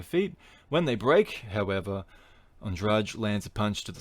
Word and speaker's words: Andrade: It's spelled the same way as Andrade, but it's Andrade.